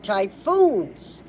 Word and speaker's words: typhoons: T Y PH which we pronounce with an F sound as we know O Ns.